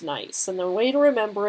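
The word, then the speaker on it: gneiss: and this is pronounced nice it's not spelled that way but it's pronounced nice and the way to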